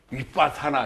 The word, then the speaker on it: 위빠사나: 뭐 남방 투행법 가운데 위빠사나 위빠사나 위 빡 사 나 저 발음도 여러가지로 많이 하는데 저게 표준 발음입니다 윗밭 사나 빠사나가 먼